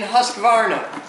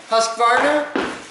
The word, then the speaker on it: Husqvarna: There are not 3 syllables in Husqvarna. You just said 3 syllables. Husqvarna. Oh, it is. There are not 4 syllables in I Husqvarna. was adding an extra A.